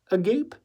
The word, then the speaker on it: agape: Agape? It's a Greek word, pronounced agape.